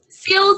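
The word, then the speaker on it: CEILS: So, um, skills, that's how you pronounce the ILS, um, is the center for education, innovation, and learning in the sciences.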